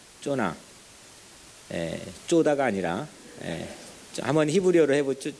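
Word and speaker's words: יונה: 근데 이 요나의 이름 뜻은 요나의 이 히브리어 발음은 쪼나입니다. 쪼나.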